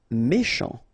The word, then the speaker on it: méchant: Méchant. Final T not pronounced. C-H together, sh. Méchant.